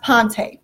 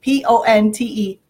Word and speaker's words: Ponte: So it is pronounced Ponte, P-O-N-T-E, Ponte.